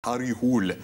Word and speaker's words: Harry Hole: And so if I'm going to, you know, put the weight on my shoulders to be the nerd, it's actually Harry Hole is how you say the name.